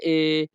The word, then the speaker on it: è: কিভাবে তিনি মারা গেলেন, এই বাক্যের ইতালিয়ান ভাষা হবে come è morto। come è morto। Italian ভাষাতে ই এর উচ্চারণ হবে এ।